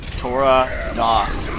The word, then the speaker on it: Torradas: Torradas. You're just being an idiot. It's how it's pronounced.